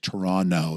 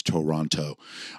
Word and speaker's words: Toronto: I was born in Toronto and Toronto is technically Toronto. That's what Toronto Canadians pronounce it. The second T is silent.